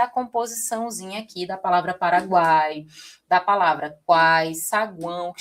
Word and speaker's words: Paraguai: Olha aqui, o U é uma semivogal, porque ele tem o som mais fraco, né? Tanto que a gente pronuncia quase como se fosse uma coisa só, guai, guai, né?